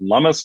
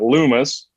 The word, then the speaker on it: Lummis: You pronounce it Lummis, not Loomis. Lummis like hummus. So check that out.